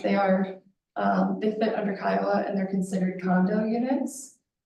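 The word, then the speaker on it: CCIOA: The staff report discusses the Colorado Common Interest Ownership Act, or Kiowa as it's pronounced.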